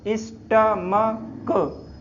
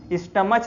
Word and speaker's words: stomach: तो पहला शब्द देखते हैं, जैसे STOMACH, स्टमक, क्या बोलते हैं ना इसको, स्टमक, स्टमच नहीं बोलते, स्टमक, का से कबूतर।